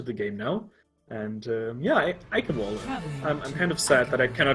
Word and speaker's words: Eichenwalde: I also think it's really funny how the announcer pronounces Eichenwalde as a true German. Nobody can do our pronunciations right. Eichenwald it is.